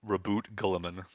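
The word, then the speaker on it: Guilliman: it's canonically as far as I know it's reboot galliman gullumin galliman he's the Benedict cumberbot so you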